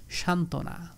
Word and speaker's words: সান্ত্বনা: extra করে যুক্ত হয়েছে তখনও কিন্তু সেই ব এর উচ্চারণ অনুচলিত থাকবে সান্ত্বনা দ্বন্দ হ্যাঁ দ্বন্দ তো